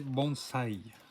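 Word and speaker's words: bonsaï: encore un magnifique bonzaï il faut prononcer bons saill les murs sontc il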